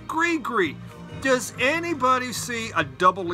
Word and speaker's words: Gris-Gris: It's pronounced Gree-Gree? That's what I mean. It's pronounced Gree-Gree.